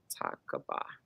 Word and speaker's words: Takaba: Exactly, Takaba or Takabo. How do you say your name? Takaba.